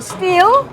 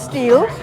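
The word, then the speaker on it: Stihl: plagued me is it still or steal steel however that you know everybody says so because of that we say still but the correct pronunciation is steel so we have it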